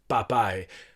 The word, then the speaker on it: papae: teaching pronunciation rules but specifically emphasize this is pronounced popeye and so on uh because students at that